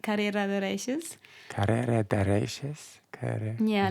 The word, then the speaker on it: Reyes: But that's also like the very Argentinian pronunciation. Because like in Spanish, usually you would say Reyes. But in Argentina, they put like a sh where the I is. So instead of yo me llamo, they would say yo me llamo.